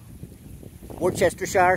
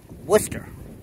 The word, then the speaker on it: Worcester: word we pronounce it Worcester like it's spelled w o st e r just like the town in Western Massachusetts Wester Mass that's one